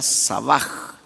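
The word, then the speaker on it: שבע: de la raíz sabah la H no es muda en el hebreo se pronuncia como J sería sabaj que quiere decir lleno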